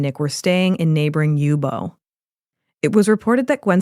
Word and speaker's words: Youbou: we would highly recommend searching yubo which is spelled y u b oou and cin Lake on